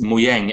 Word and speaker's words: Mojang: would be a good job interesting note it's pronounced muang and is Swedish for trinket or techn technological